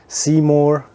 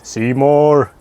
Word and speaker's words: Simorr: I think it's pronounced Simorr, like The Simpsons. Simorr!